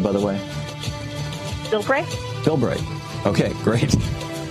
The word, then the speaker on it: Bilbray: it for a okay am I am I pronouncing your last name correctly by the way Bill bra Bill BR okay okay great I've got I've